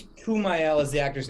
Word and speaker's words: Kumail: You know, I think it's Kumail is the actor's name, correct? Correct, yep. I believe it's how it's pronounced.